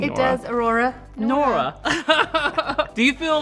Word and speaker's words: Aurora: It rhymes with your name, It Nora. does, Aurora.